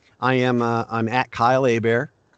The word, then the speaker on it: Hebert: am i'm at kyle a bear my name is spelt like hebert but it's pronounced a bear like a bear is tataki uh at